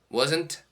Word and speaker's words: wasn't: We usually say weren't as one syllable. Weren't. Wasn't has two syllables.